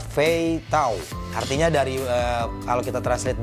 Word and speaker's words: 飞刀: Tulisannya Mandarin, ini dibacanya Fei Tao.